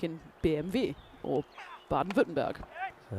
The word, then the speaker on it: BMW: And a W is pronounced like a V like in BMV or bad Venber.